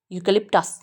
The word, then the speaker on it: eucalyptus: You candy stress है, पर क्योंकि बड़ा हुआ है टू डॉट्स से सब मिल जाएंगे। खई को स्प्रेड नहीं करेंगे, फी को स्प्रेड नहीं करेंगे, ठी को स्प्रेड नहीं करेंगे क्योंकि इन पे स्ट्रेस नहीं है। तो आधा आधा है, जल्दी से बोलेंगे।